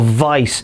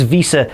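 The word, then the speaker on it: Wiese: And another figure who's kind of less certainty of superstardom, Tim Visa or Vice, I'm not really sure what he's going to be buil as, but the German pronunciation is Visa, an exger international goalkeeper and Vera Braman goalkeeper as well.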